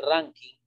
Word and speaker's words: Rankine: Kelvin y Rankine, que se escribe Rankine, pero se pronuncia Rankine, es absolutas.